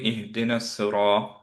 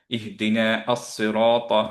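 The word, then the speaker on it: اهدنا الصراط: Similarly এই জায়গাটাও দেখেন তো, এখানে আমরা কিভাবে পড়ি ইহদিনাস সিরাত, রাইট? আস-সিরাত, এটা তো পড়ি না, আমরা পড়ি ইহদিনাস সিরাত, ইহদিনা আস-সিরাত, এভাবে পড়ি না। কেন আস-সিরাতটা পড়ছি না? কারণ হচ্ছে এইখানে একটা হামজাতুল ওয়াসল আছে, সেটা সাইলেন্ট হয়ে গেছে মার্জ হওয়ার সময়।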